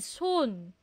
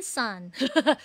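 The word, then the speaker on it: 손: Soon. Soon. Hindi yan sun. Soon. Soon. Soon.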